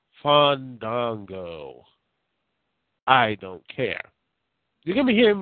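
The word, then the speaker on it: Fandango: yes I did say it wrong yes it's fond dong I am too sick to even try to pronounce that name I don't give a damn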